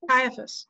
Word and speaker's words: Caiaphas: With his response with, how do you pronounce it? Caiaphas? Caiaphas.